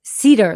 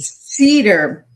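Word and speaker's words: Sieder: You did the one my last name is Cedar, like the tree. Cedar.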